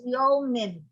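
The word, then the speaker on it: יָמִים: Kasi you pronounce that as yomim.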